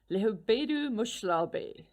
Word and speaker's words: Lehubedu Mohlabe: Coffee Car, Lehubedu Mohlabe.